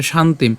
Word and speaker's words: শান্তিম: তাহলে শান্তিম। তাহলে এখন সেই অ এর সাথে এ ধগচ্চিতি উচ্চারণ করছি।